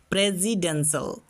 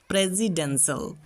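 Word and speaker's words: presidential: এস আই সি নয় এস আই এটা জেড এর সাউন্ড যখন দুইটা ভাওয়েলের মাঝে এস কনসোনেন্টটি খুঁজে পাবে তখন তোমরা এই সাউন্ডটা করো এটা হচ্ছে জেড এর সাউন্ড তবে সেটা সঠিক উচ্চারণ হবে প্রেসিডেন্সিয়াল প্রেসিডেন্সিয়াল তো বন্ধুরা আজকে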